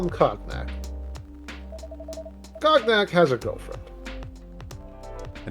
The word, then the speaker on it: cognac: I don't mean to correct you, but I think it might be cognac. You're right. Oh, My apologies. What? How do you pronounce it? Cognac? Cognac. It's literally cognac. Yes, The but a lot of N- things are spelled oddly. The N goes after the G, not cognac.